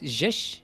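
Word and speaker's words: sześć: How do you pronounce this? Shesh.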